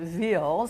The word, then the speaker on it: Wil: So he goes, "Oh, there's a marathon in Will, W-I-L-L. They pronounce it Ville, Switzerland, and you should run in it."